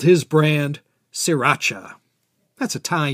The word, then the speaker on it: Sriracha: between bangkok and pattaya it's more correct to call it siracha but the locals who